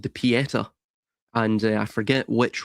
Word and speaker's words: Pietà: Um well, just a small comment there, it's Pietà, and that means mercy um in uh translated.